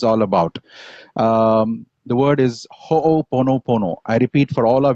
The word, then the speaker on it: ho'oponopono: Just say the first word, ho'o, and then pono pono.